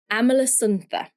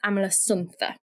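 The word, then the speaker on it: Amalasuntha: Amala Sununa, I think is how you say it. It might be Amala Sun, but I think it's Amala Suna.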